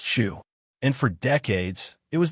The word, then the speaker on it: SHU: This is Pelican Bay State Prison Security Housing Unit, the Shu, pronounced Shu.